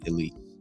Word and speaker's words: Elyse: I saw an A at first, but if I saw ELYSE, I would say Elise.